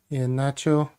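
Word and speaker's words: Iheanacho: Uh Ianacho of course I've got a little couple of things here to help people pronounce it correctly. Ian Nacho.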